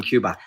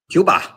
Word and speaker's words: Cuba: But how do you say it that way? Cuba. She said I couldn't roll my R's. I said Cuba. But does Cuba have an R in it? No R in it.